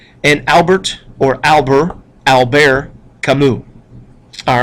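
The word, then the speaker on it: Camus: Jean PA sartu and Albert or Albert Alber kamu all right that's how you pronounce those uh look them up in the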